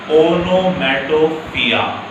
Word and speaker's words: onomatopoeia: O stands for oxymoron, and O stands for onomatopoeia. What is this pronounced?